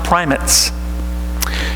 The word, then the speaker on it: primates: a province in the Anglican Communion at is pronounced primates if it were up to me I'd find